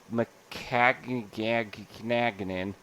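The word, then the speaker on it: Maccagnan: Ever since he got there and they fired McCagnan as their GM. That's exactly how you pronounce it.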